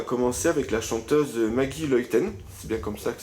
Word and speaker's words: Luyten: là on va commencer avec la chanteuse Maggie loïten c'est bien comme ça que ça se prononce bien ok donc on va aborder un